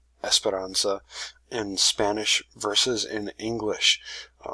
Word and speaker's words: Esperanza: for the character so an English pronunciation of this name would be something close to Esperanza so you can see that that is sort of an a widened sound kind of a more nasally sound Esperanza and so you